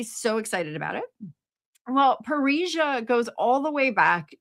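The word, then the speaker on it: parrhesia: Parisia also sounds like Paris, but that's not how it's spelled.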